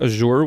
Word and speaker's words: azure: but I'm basically using cobalt Azure which I've been told it's pronounced Asher and then some quinacridone